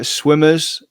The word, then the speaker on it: SWMRS: Swimmers, I'm not aware of. It's spelled SWMRS.